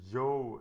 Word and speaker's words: Zhou: nate who actually speaks chinese that the correct pronunciation i've heard several is the yo dynasty and not anything else so this is pronounced the yo dynasty and I have said it wrong 400